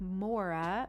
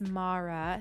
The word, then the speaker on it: Mara: name uh i have a friend named mara and pronounced like maura but siri on my phone thinks it's mara so now i have to